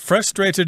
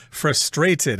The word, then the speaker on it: frustrated: what you want but frustrated is the American pronunciation I believe in England they will accent the second syllable frustrated I feel so frustrated